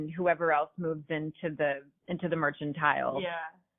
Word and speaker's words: Mercantile: else moves into the mercantile. Yeah. Is it mercantile or merchantile? Mercantile. It's mercantile.